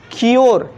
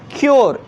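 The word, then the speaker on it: cure: तो यहाँ पे देखिए तो इसका उच्चारण क्या हो रहा है, क्योर, क्या हो रहा है, क्योर, यो आ रहा है ना, यो क्योर, इस यू का उच्चारण क्या हो रहा है, यो के जैसा हो रहा है ना।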